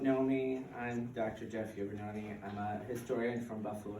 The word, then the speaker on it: Iovannone: is Jeff, and you have to help me pronounce the last name. Iovannone.